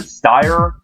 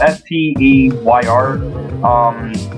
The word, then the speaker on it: Steyr: The Army Rifle, aka the AUG, or the Steyr, I think it's spelled S-T-E-Y-R. It's Steyr AUG, or the Steyr Aug.